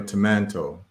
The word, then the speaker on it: tomato: In Ghana, they pronounce tomato tomanto, just for y'all to know.